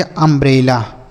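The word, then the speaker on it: umbrella: यू एम बी आर E double L ए इसे पढ़ेंगे अंब्रेला।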